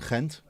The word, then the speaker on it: Gent: Even more confusing when you pronounce it correctly with the ch. It's what? Genk and Gent.